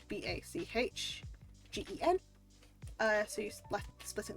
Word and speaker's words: bachgen: So the ch, so instead of like, so it's spelled like BACHGEN.